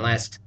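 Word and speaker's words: لا: set of vocab words whenever a lam is followed by an alth forming the sound La they make this special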